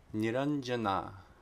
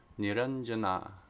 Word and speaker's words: Nirañjanā: Okay, if anuswara precedes a palatal sound, it's the nya, the palatal nasal sound. So a couple of examples here. Niranjana, Niranjana, Niranjana.